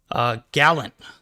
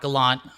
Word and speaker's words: Gallant: Gallant, not Gallant.